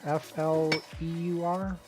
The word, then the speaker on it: Fleur: how to pronounce it. And I don't remember what word it was. Okay. Yeah. Fleur? F-L-E-U-R?